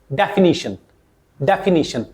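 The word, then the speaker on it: definition: सो कैसे प्रोनाउंस करोगे इस वर्ड को? डेफिनेशन, नो डेफिनेशन। यूजुअली इसको डेफिनेशन बोलते हैं, इट इज नॉट डेफिनेशन, इट इज डेफिनेशन, डेफिनेशन।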